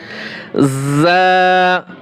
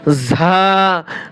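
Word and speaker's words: ز: হবে র র র জা বেশি শক্তও করা যাবে না একেবারে নরম করাও যাবে না মাঝ বরাবর যা যেমন অনেকে শক্ত করে এভাবে ঝা ঝা আবার যা এভাবেও না বেশি নরমও না বেশি শক্তও না মাঝ বরাবর যা যেমন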